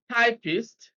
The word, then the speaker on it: typist: pattern now 43 here we have typist stresses on the first syllable be often stress is